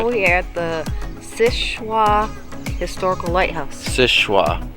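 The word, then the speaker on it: Seul Choix: we are at the Sishwa Historical Lighthouse. Sishwa. Spelled Sul Shoya. Yes. Yeah, it doesn't. It's not pronounced how it's spelled.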